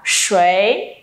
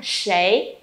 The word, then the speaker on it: 谁: Và bật mí cho các bạn á, từ này còn một cách đọc nữa là sấy. Sấy và sấy thì đều được nhé mọi người.